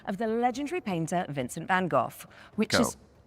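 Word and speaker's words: Van Gogh: Vincent Van Go. That's how you say it properly.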